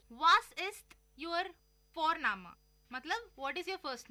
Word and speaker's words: Vorname: और हम यहाँ पे फोरनामा प्रोनाउंस करते हैं बट लिखते हैं उसको VORNAME. ओके, तो वो हम इंग्लिश के अनुसार प्रोनाउंस करेंगे तो बनेगा वॉरनेम, बट नो, इट्स फोरनामा.